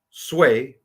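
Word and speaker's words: Sui: be as follows Han sway that's how you say that sway tongue and yang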